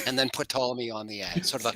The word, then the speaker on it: Ptolemy: And when people start talking about Ptolemy, dude, there's literally a giant fucking P before that T. Why? Where's the quality assurance man of Stone to be like, it's Ptolemy, guys?